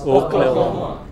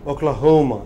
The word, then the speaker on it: Oklahoma: You know, does he pronounce this last sound? No, he doesn't. What is this? Missouri. And what is this? Oklahoma. Oklahoma. The stress is? Oklahoma. What is this? Oklahoma.